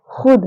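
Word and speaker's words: ख़ुद: खुद, तो ये भी है हमारा फारसी का अक्षर। खुद नहीं कहेंगे, खुद।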